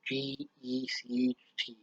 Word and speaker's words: Gecht: I don't know how you pronounce his name. It's Gecht.